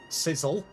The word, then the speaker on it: Cecil: I pronounce it with an unstressed E. Sizzle.